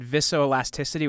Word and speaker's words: viscoelasticity: And I guess one of the you said, and you can correct me if I have the pronunciation of this wrong. You said viscoelasticity.